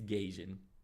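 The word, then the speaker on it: Gaijin: entertainment G gun yeah the perfect the best pronunciation anybody could use for gajin it's gajin like but hold on there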